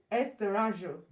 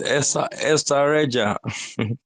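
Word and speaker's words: Estarreja: Okay, it is Estareja. Estareja. That's it. So, and I think the Portuguese will pronounce it Estareja.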